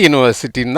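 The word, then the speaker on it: university: இந்த இடத்துல என்ன பண்ணுறோம், யூ வந்து யூன்னு உச்சரிக்கணும். யூ வந்து ஆனாவனெல்லாம் இருக்கா, இல்லை, மெய்யெழுத்தில் தான் இருக்குது. அதனால தான் ஏ போடுறோம். ஏ யூனிவர்சிட்டின்னு தான் சொல்லணும், ஆன் யூனிவர்சிட்டி சொல்லக்கூடாது.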